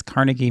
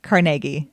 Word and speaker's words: Carnegie: saying it that way it's Carnegie mail and I've heard it that way my entire life pittsburghers say Carnegie we put in the extra syllable um and so Russo